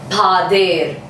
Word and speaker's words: pader: Okay, this is spelling Pader, but it's pronounced as Pader.